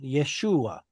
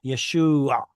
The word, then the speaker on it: Yeshua: If we are in Judea, this would be pronounced Yeshua. Or excuse me, let me try again. Yeshua. Right? There's that a sound at the end that the was originally pronounced as.